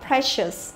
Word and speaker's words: precious: Đấy thì mà lại không đọc thì e lại cũng không đọc là i dài mà vẫn đọc là e bình thường, đúng không? Là precious. Đấy, precious.